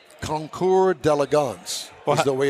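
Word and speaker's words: Concours d'Elegance: had to look it up how you really pronounce conour delance is the way it's pronounced conour delance uhhuh conour although it looks like conour de Elegance no it's not uh that's maybe the hillbilly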